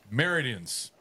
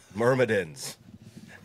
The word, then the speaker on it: Myrmidons: Meridians. Spin. That's then how do you say it? Myrmidons. Not meridians. There's a second M there.